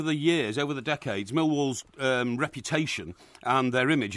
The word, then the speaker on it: Millwall: an opportunity mil wall by the way is how we pronounce it yeah mil wall mil wall mil wall mil wall mil mil wall you got to have the uh pronunciation the enunciation the second syllable mil what an opportunity